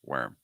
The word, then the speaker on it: worm: again I would treat it as like were as your root were like the past tensi of verb to be if you can get that sound and then attach an m to it you'll pronounce it in